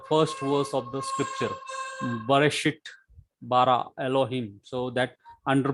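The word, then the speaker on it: בְּרֵאשִׁית: That is, for example, this belt, belt, or in Hebrew, bereshit, bereshit. So very short E sound.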